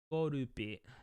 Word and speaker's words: Skorupi: Skorupi. Skorupi. It's probably how you say it in Japanese. Skorupi. And they didn't name it Scorpy. That's so weird.